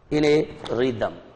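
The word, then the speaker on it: rhythm: लिख के बताता हूं, ये तो हो गया री, ये हो गया दर, ये हो गया रिदम, ऐसा बच्चों मैंने क्यों लिखा,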